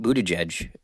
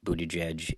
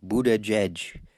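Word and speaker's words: Buttigieg: the same age Pete Budaj is um it's funny every time I hear his name I think of Donald Trump pronouncing it he's like Buddha judge Buddha judge um and Pete is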